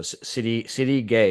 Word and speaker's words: Sidi Gueye: So Sidi Gueye is how we want to pronounce.